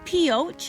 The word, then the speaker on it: Pioche: And right in front of me is the Pioche. I am pronouncing the name of the town correctly, according to the local.